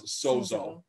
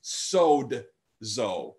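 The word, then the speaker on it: σῴζω: i that would be technically correct we often pronounce sozo just a silent sozo technically it's sod zoe like soda sodzo right and this is what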